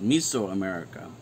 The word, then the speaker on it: Mesoamerica: it's mesoamerica and actually in greek it's properly pronounced as miso america the miso is medium